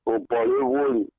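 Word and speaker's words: Oborevwori: You don't pronounce it properly. So the name is Obolewoli.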